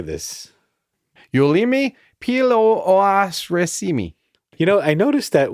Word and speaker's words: Pilluaritsi: And Pilluaritsi is pronounced like Pilluaritsi.